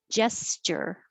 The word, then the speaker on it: gesture: year kids go trick-or-treating gesture looks like a g sounds like a j j gesture and the t u t u r e is usually cher like nature and mature threatening gesture fridge this